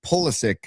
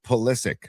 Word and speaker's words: Pulisic: Actually, and I heard somebody just say the other day that it's Pulisic, not Pulisic for Christian Pulisic.